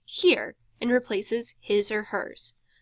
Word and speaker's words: hir: If you are curious about pronunciation, ZIE is pronounced Z and replaces he or she, and HIR is pronounced here and replaces his or hers.